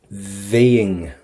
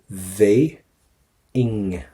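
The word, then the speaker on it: bheinn: Now listen to this. Véing. So get a V at the start. So we're going to go for the V, and then we're going to go for an ing towards the end.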